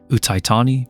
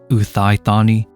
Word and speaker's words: Uthai Thani: pronounces the name right that is utani not uani and this is an